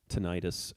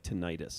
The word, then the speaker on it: tinnitus: the American and layperson pronunciation often sounds like tinnitus. Oh, so the doctor has to call it tinnitus. Yeah. And then, so which one is right? Well, it depends. Either. Even the American Tinnitus Association, also known as the ATA, can't decide. They say both pronunciations are correct. Yeah. They say. But for the record, they use tinnitus.